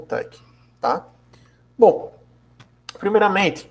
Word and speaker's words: TeX: com o Sistema PEC escreve terex para gente pronuncia como Tec bom ele é formado